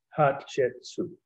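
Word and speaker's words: Hatshepsut: again h a t s h e s pronounced hot soup someone told me it sounded one of my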